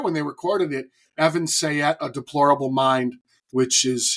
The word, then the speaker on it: Sayet: I was there when they recorded it Evan sayette a deplorable mind which is his standup go